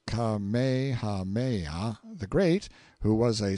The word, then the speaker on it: Kamehameha: the cloud rack when kamehameha pronounced kamehameha the great who was